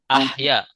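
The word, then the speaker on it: أحيا: Ya, bukan auha. Ahya. Ya. Ahya.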